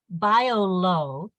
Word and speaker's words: Biolo: It's called BioLow, and it's a non-plastic, ocean safe, never soggy, plastic-free straw.